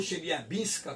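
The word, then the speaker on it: Челябинск: Então, aqui nós temos um meteorito que atingiu, na verdade o meteorito, porque o meteoro é um pouco maior, atinge Chelyabinsk, ou Chelyabinska, como pronuncia os russos, em 2013, e deixa 1.500 pessoas feridas.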